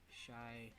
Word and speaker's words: Chai: So how do you pronounce it? So her first name, Chai T? Shy T. Okay, Shy.